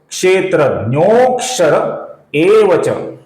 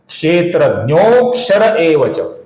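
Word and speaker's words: क्षेत्रज्ञोऽक्षर एव च: तो इसका उच्चारण कैसे होगा दोस्तों, क्षेत्रज्ञोक्षर एवच। अवग्रह का उच्चारण हम कुछ लंबाई के साथ करते हैं, क्षेत्रज्ञोक्षर एवच, इस प्रकार इसका उच्चारण होगा दोस्तों।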